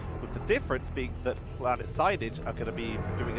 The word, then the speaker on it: Planet Sainage: Is Plant Sainage or Planet Sainage? It is Planet Sainage, even though it's spelled Plant Sainage, and they're running Groot, so it's fun to say Plant Sainage.